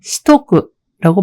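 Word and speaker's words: しとく: 여기서 시테 오쿠는 테와 오가 토로 바뀌는 게 회화에서는 흔합니다. 그래서 이것이 시토쿠라고 발음하는 경우가 많다고 2.3 아기 목욕에서 말씀드린 바 있습니다.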